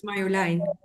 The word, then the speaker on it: Marjolein: It's Dutch. It's Marjolein.